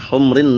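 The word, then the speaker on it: حمر: Min humrin na'am. Bukan humur tapi humr. Karena humrun itu jamak dari ahmar hamra. Tapi kalau humur itu jamak dari himar. Jadi jangan sampai keliru membacanya.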